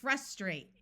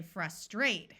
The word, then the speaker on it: frustrate: Also, we have the word frustrate in American English with a short U sound. My understanding is that the British say frustrate, where the second syllable is accented or said a little louder.